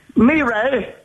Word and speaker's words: Mireille: Mireille. As in Marseille. Marseille?